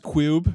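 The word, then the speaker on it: Q.U.B.E.: Am I supposed to say Q-U-B-E? Or just... It's pronounced Cube.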